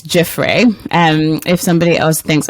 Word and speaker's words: Giuffre: to and that's around virginia gaffrey am i no jaffray i've said it wrong down below how am i supposed to say that name well i'm humbly submitting it's jeffrey and if somebody else